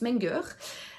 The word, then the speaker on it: Menger: Menger, voilà, c'est un allemand donc je pense que ça se prononce Menger.